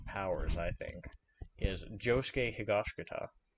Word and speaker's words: Higashikata: Higashikata. Higashikata. I hear people on YouTube always say it differently, but in anime, that's how they say it, so I'm going to say it.